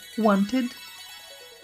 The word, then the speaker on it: wanted: Então, estes serão os únicos casos em que você vai pronunciar o final da palavra com som de ID, quando a palavra originalmente já terminar com T ou com D.